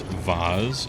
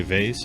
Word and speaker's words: vase: now let's go downstairs it's pronounced vaz oh is it okay with words like that i tend to just go back and forth every time i say them for fun like i'll say vase and then i'll say vaz